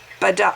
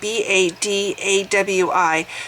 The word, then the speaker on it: Badawi: One such case is that of the jailed blogger Raif Badawi. I'll have to spell his last name. His first name is spelled R-A-I-F, last name B-A-D-A-W-I, sentenced last year to 10 years in jail and 1,000 lashes for insulting Islam.